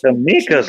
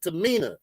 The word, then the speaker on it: Tamina: And so they're keeping it up because Tamika's looking good. She had that same makeup. Mispronounce her name. It's Tamina.